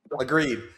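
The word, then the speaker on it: Lagree: You said is pronounced Agreed. Agreed.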